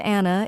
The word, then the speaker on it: Anna: For example, hi, I'm Anna. It rhymes with banana.